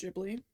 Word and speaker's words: Ghibli: What's my favorite Giblly movie? Um, I actually think it's pronounced Ghibli, but that's fine.